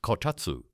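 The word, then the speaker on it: こたつ: In 14th century Japan, families developed a heated table called a kotatsu, pronounced kotatsu.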